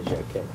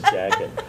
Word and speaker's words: Jacquet: He told me to say Jacquet. Right. Where Illinois Jacquet used. So I'm the only one who says that. Everyone else says jacket. He said, he was funny. He said, I said, how do you say it? It's supposed to be a French name. He said, J-A-C-Q-U-E-T. Does that look like a jacket to you? I said, okay, I got it.